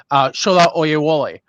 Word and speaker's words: Shola Oyewole: Our guest for today, Shola Oyewole. Did I pronounce that right?